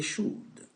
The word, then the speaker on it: should: dit i you they should comme les autres would could should on prononce pas le l on prononce tout simplement ici le mot sans tenir compte des l le permet d'exprimer quoi